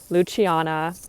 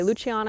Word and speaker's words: Luciana: videos from your host, Luciana. That is my name. You can say Luciana, you can say Luciana. I do have an Italian name. That's why I pronounce it that way.